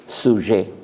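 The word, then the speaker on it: sujet: আপনি দেখেছেন ফরাসি ভাষা সাবজেক্টকে বলে সুহে বুঝতে পারেন ইংরেজি বানান বলছি। এস ইউ জেইটি। টিটা উচ্চারণ হয় না সুসরে পর্যন্ত উচ্চারণ হয় এটা অনেকটা বাংলা সহজের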